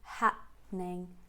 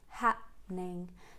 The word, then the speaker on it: happening: and then she um does not say that word in three syllables like happening but more like in two syllables happening happening so once you say ha you keep the mouth closed and then you carry on with the happening happening and for the second